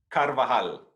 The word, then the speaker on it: Carvajal: your version come on let us hear it carvajal there we go okay so uh i appreciate